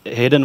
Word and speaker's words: Hidde: talk about design my name is hidden it's pronounced hidden without the end this is a very common